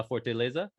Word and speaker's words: Fortaleza: this one uh leftover am i saying it right the title for la forte lasa yeah yeah and and that translates